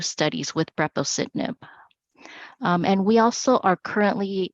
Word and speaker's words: Brepocitinib: Could you again pronounce the name of the drug for us? Brepocitinib.